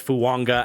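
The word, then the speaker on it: Fuaga: But let's get into the top 5 with Talise Fuanga out of Oregon State. There's a silent N in there with the pronunciation. But talk about the total opposite than J.C. Latham with Fuanga, in a guy that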